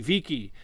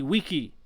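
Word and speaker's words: vici: understand how it's pronounced you look at his famous saying of i came i saw i conquered which is veni vidi viki and it's actually weenie weedy wiki yeah see it's it's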